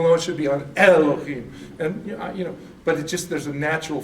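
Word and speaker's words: אֱלֹהִים: There's no chaf in this, so you don't say chaf. It's not Elohim, it's Elohim.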